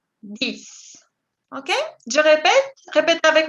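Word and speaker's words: dix: Et el número 10, vous dites 10. La X se pronuncia como una S. 10.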